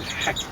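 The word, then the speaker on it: gek: It's spelled G E K and ordinarily would say geck, but the Dutch would say heck. Something like that. Heck. Heck. And um I was going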